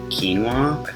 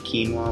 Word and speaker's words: quinoa: how to say it it's just two syllables it's a king like you're keen to do something and then walk so like beginning of water I really like acai bowls